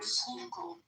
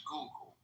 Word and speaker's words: Schuylkill: Is it Schuylkill River? Schuylkill. Schuylkill, not Schuylkill. No, it's a Dutch word. Okay, Schuylkill. Yeah, I've seen that in New York too. So it's Schuylkill.